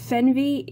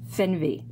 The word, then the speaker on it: Fernweh: It's pronounced FERNWEH, I hope. According to Google, it's pronounced FERNWEH, so hopefully I'm not butchering that German word.